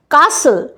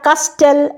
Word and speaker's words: castle: কাসল, CASTLE, টিটা pronounce নেই, আমি বলি না কাস্টেল, আমি বলি কাসল।